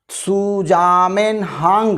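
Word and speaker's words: Zusammenhang: सुजामेनहांग, इसको ध्यान रखिएगा, इसकी स्पेलिंग है ZUSAM हांग, ये है दोस्तों।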